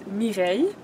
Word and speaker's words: Mireille: My real name is Mireille. All right, so How you spell that? pronounce. It's M-I-R-E-I-L-L-E.